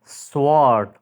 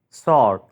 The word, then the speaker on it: sword: Asma is Right pronunciation sword sword is wrong sord sord is Right pronunciation thank you for watching